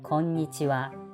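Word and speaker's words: こんにちは: when you write down konichiwa or konbanwa actually last what sound is wha but not ha this ha is the part of the particle so please don't forget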